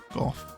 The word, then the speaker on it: Van Gogh: van Gogh starry night now I know everyone's pronunciation of Vincent Van Gogh or golf whatever you like to say it's different I I say goth and um I blame Doctor Who for that so there's a set released